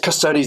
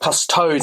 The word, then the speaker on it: Custodes: against the Iron Warriors, some guy put on a comment on the bottom, it's pronounced Custodes, not Custodes, and he put toads in capital letters, T-O-A-D-S. I mean, I totally get your frustration, but people pronounce Sicaran or Artificer Armour or Artificer Armour.